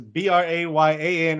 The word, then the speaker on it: Brayan: And then it's Brayan for Brayan. It's Brayan. It's Bello, or Bello is Bello.